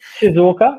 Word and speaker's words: Shizuoka: Is that how you spell it? Shizuoka, yeah, I will go into that in a minute.